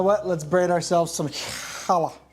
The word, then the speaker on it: challah: let's braid ourselves some Hala if you say it correctly Hala bread are we